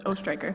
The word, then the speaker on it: Ostreicher: You were close. It's Ostreicher.